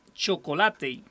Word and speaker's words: Chocolatey: Sin embargo, hace poco descubrí una nueva aplicación que se llama Chocolate. Se escribe así como chocolate, pero termina en Y, Chocolate.